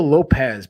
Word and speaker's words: Lopes: on Diego lope is it's Diego Lope has but it's spelled like Lopes because it's Portuguese because it's Portuguese okay